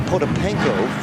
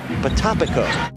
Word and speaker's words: Potapenko: Well, we've been saying Potapenko for weeks, but it's actually Potapenko.